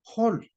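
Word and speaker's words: חול: Pero lo curioso es que la palabra arena en hebreo se pronuncia hol, o está escrito hol, que está estructurado por las tres letras que es por Het y Vav y Lamet.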